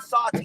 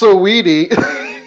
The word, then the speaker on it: Saweetie: women, like Quavo and Saudi, they just broke up. But you see how, like, they can get there nice. It's pronounced Saweetie.